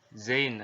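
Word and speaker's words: ز: Nah, secara teori huruf za ini diucapkan dengan cara ujung lidah kita berada di antara dua gigi seri bagian atas dan bagian bawah, menyerupai dengan pengucapan huruf Z kalau di dalam huruf alfabet seperti itu ya.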